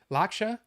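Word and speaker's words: Lakshya: But this guy, um, what's Lakshia? L I think every time that they pronounced it in the little documentaries, which is kind of cool because it's it's actually got documentaries. Laksha is how they pronounced it.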